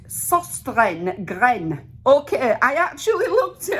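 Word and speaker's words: Søstrene Grene: It's Danish and it's pronounced Susten Gren.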